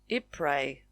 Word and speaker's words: Ypres: I pre The Y becomes a I and the S is silent.